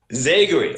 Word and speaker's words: Zagary: My first name is Zagary. Zagary.